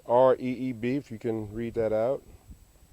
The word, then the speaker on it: Reeb: Martin Luther King I hope you can see that a drawing 1929 to 1968 over here's the Reverend James Reeb pronounced Reeb few can read that